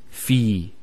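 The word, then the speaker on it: في: So the first word is fi. So you notice there's the elongation, the long vowel. Fi means in, and that in could either be physical or abstract. So if we say fil bayt, in the house, or it could be abstract.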